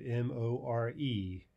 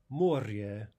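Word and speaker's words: море: English we would get mor e and we would be tempted to say more right but the Russian word is Moorea Moorea two vowels two syllables next one activity sign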